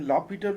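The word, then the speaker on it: L'Hôpital: देखिए लॉपिटल rule है, कोई कोई इसको प्रोनेंशियल लॉस्पिटल रूल कहते हैं, कोई लॉपिटल रूल कहते हैं। बेसिकली ये लॉपिटल रूल ही इसका सही प्रोनाउंसिएशन है।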